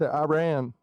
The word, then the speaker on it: Iran: Did he pronounce it as Iran? Most of the time, don't get it right. It's Iran.